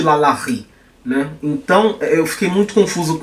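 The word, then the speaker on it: LaLaRi: por alguns motivos porque a pronúncia na francesa ela não ri todos os vídeos que eu procurei na internet Falando sobre essa mulher as pessoas que usavam sotaque inglês chamavam de Loren não de Lalá então eu fiquei muito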